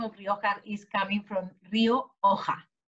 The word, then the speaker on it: Rioja: can understand totally that the sound ha which is very spanish is complicated to pronounce in different languages and yes normally when i heard the word rioja in england i used to listen ka ryoka rioka but i think for